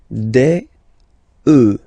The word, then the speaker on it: œufs: Then, un œuf, des œufs. Okay, and we'll make the liaison here to make it sound more beautiful. Des œufs, alright?